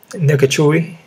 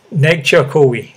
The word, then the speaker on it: Nzechukwu: We got Kennedy, man, Nkechui versus Ovin St. Preux. As much as I break these guys down, I would never. I always mispronounce the name, man. Nzechukwu. Okay, there you go.